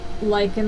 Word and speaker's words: lichen: But and this one's going to be totally different because it's a single ply lichen and lace. Yeah. I think I that's don't know what how they're to called.